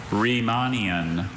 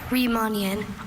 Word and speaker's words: Riemannian: Riemannian or Riemannian.